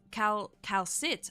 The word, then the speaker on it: Calcit: She's Calcit. Oh, the T is silent. I see.